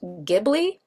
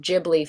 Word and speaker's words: Ghibli: Studio Ghibli, which actually Ghibli being the Italian word for like ship, which is actually pronounced Gibli, but Hyo didn't realize it was pronounced Gibli, so it's pronounced Ghibli for the studio, even